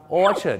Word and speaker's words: orchard: ard น นะ ครับ ครา นี้ ลง ท้าย ด้วย ard เนี่ย บ้าน เรา สำเนียง เรา นั นะ ครับ จะ ไป สล ใส่ สระ อา กัน ไป เ นะ ครับ แต่ อยาก จะ บอก นะ ครับ ว่า ของ ฝรั่ง หรือ ภาษา อังกฤษ ก็ ใส่ สระ เออ กัน หมด ครับ orchard นั่น เอง